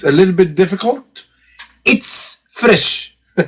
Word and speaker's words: ItzFresh: a little bit difficult it's fresh it's fresh so basically it's spelled zed fresh so again it's fresh